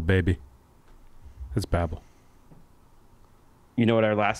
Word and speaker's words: Babbel: goes big 55% they're not messing around it's Babble baby that's Babble you know what our last sponsor is it's